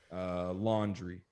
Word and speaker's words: Laundrie: So apparently Gabby and her boyfriend Brian Laundrie, they are from New York. And can we just say that last name again, because it's spelled horribly, and for you to get laundry out of that, I'm just like, okay,